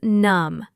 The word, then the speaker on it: numb: The word is numb with a silent b.